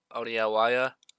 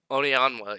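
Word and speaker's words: Onianwa: And then with my second to last pick, I think Ethan Oniawaya. Onyanwa, excuse me, I just pronounced that horribly.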